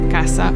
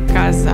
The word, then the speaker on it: casa: We have this variation in Ecuadorian Spanish where it could be casa or casa, pronounced as s or z, playing audio files for